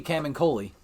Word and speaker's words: Camuncoli: we were talking about Charles Soule and Giuseppe cam and Koli because I know how to say his name